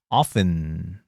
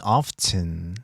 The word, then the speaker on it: often: often 또는 often 발음 두 개 다 가능합니다.